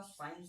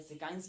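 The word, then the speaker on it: science: यदि अगर मैं आपके लिए बताऊं कि अगर मतलब एस के बाद सी आ रहा है कहीं पर भी तो आप समझ जाना कि यहां पर सी जो है वो साइलेंट है। ठीक है? तो ये है दे रखा हुआ मेनली सबके लिए पता होगा साइंस। साइंस के लिए हम एसिड पढ़ते हैं या सिकाइं्स पढ़ते हैं।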